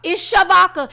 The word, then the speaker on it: Shavodka: Like my mama spelled my name wrong at birth. But she meant Shavodka though. It's Shavodka.